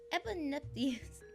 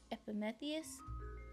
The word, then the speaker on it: Epimetheus: Eponytheus. We're just going to call him Biggie. Prometheus and his brother Epimetheus.